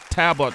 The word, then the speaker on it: Talbot: And making his directorial debut, the one and only Joe Talbot is here. Did I say it correctly, Joe? Talbot, yeah.